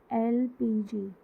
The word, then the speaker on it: LPG: ए की साउंड ज़्यादा पहले आ रही है, LPG, L, ए।